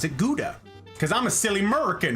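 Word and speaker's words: Gouda: that's pretty funny yeah Germans say it's a ga and I'm like which I get because that's actually like how it's pronounced like you sound it out g u it would be G but everybody says guda like every everywhere in America that's not like a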